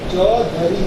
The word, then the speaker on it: چودھری: اصول تو یہ کہتا ہے کہ اس ہے کی آواز موجود ہے، لہذا یہ پڑھا جائے گا. جبکہ اسپیلنگ آپ جب انگریزی میں لکھتے ہیں تو آپ لکھتے ہیں CHAUDH، دھ. تو پھر آپ لکھیں گے دھ، دھ دال کے ساتھ لگا کے، دھ چودھری، دھ CHAUDH. ایسے ہی ہے نا.